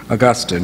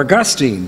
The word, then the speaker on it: Augustine: for her wayward son augustine or augustine depending on how you pronounce it she prayed and